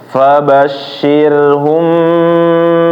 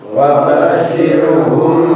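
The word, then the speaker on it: فَبَشِّرْهُم: Fabashshirhum, di sini mim sukun ketemu ba. Itu diapain? Ditahan ya. Jadi bacaannya adalah ditahan. Jangan langsung pindah fabashshirhum bi. Tapi ditahan dulu sedikit.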